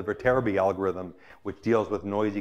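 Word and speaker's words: Viterbi: algorithm behind cell phones I think it's pronounced the vertebra B algorithm which deals with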